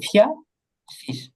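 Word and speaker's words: vierzig: এই যে ফিয়া শীষ, ফিয়া শীষ, ফিয়া শীষে 40।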